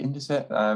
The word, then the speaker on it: Indesit: So you mentioned earlier on Hotpoint and Indesit. Is that how you say it? Indesit?